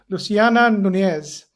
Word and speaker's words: Luciana Nunez: Ash podcast and today I've got a very distinguished guest, Luciana Nunees. Luciana, have I pronounced your name correctly?